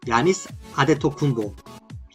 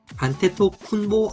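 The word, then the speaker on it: Giannis Antetokounmpo: 야니스 아데토쿤보, 안테토쿤보 아니고 아데토쿤보 아니고 아데토쿤보입니다.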